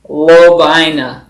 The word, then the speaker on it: Lovina: So the correct pronunciation is Lovina.